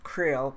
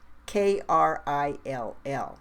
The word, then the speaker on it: Krill: was his omnipotent highness Krill pronounced k r i l l Krill in the American